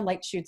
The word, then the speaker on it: Leitschuh: with but most importantly you're here with light shoot today and I had to ask her how to pronounce her name because it looks very difficult